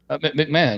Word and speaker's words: McMahon: you find out about McMahon or whatever that McMahan or what how do you say this guy's name McMahon yeah Vince McMahon's wife so so it's pretty